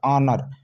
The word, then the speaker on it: honour: Spelling देख लीजिए, HONOUR, ऑनर पढ़ते हैं, बल्कि हॉनर नहीं पढ़ते हैं।